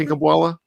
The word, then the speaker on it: Kinkhabwala: This was brought up on the Andrew Filipponi show on the Fan 93.7 with Aditi Kinkhabwala. And did I pronounce that right, Shannon? Mm-hmm. Kinkhabwala?